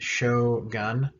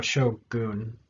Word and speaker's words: shogun: him shogun so uh you may hear americans say gun like show gun uh for japanese that's really weird they don't it doesn't sound right they don't have that sound the earn so shogun but anyway you can